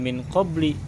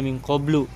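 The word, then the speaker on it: مِنْ قَبْلُ: dimajrurkan dimajrurkan oleh Min tetapi tidak Min qobli tetapi bacanya minqoblu Kenapa dibaca minqoblu karena mabni Nah sekarang perhatikan ayat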